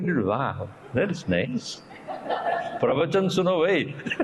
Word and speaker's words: pravachan: The new medicine is called pravachan. You know that? So I looked at it, wow, that is nice. Pravachan suno bhai.